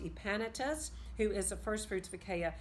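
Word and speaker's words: Epaenetus: says greet my beloved it's pronounced EEP Anytus who is the firstfruits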